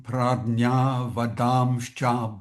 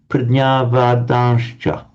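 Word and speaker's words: प्रज्ञावादांश्च: Can you pronounce again Pradnyavadanscha? Pradnyavadamscha. Okay, right. When you first pronounced it, it came out as a bit of an M sound.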